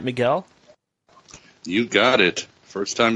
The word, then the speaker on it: Miguel: Am I pronouncing your name right, Miguel?